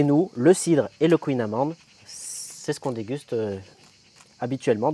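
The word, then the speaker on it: kouign-amann: le prononce tous mal il y a une prononciation à la Bretonne après je ne suis pas un Breton bretonnant mais en tout cas voilà j'ai toujours entendu dire mes grands-parents et mes arè grands-parents dire le queinaman donc on dit le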